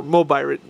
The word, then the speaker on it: Mobirates: Where the original one, which you can see here, reads Gokaiger, this one reads Mobilet, or Mobirate. It's just the way it's pronounced in Japan.